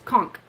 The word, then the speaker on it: conch: a conch shell concoct every time i think of conk i think it's wrong it's conch anyway i like that one because it's spelled c-o-n-c-h i always when i read it i always say conch to myself yeah i don't know